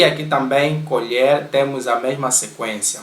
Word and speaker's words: colher: Aqui as palavras são escritas da mesma maneira, C-O-L-H-E-R, e aqui também colher temos a mesma sequência. Mas quando é para se referir ao utensílio de cozinha, nós pronunciamos colher.